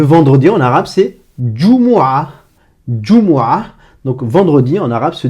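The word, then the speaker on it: جمعة: Jumu'ah, donc vendredi en arabe se dit Jumu'ah. Et ce mot Jumu'ah commence par ce son, par la syllabe Ju. Ju. Donc ce son plus la voyelle OU.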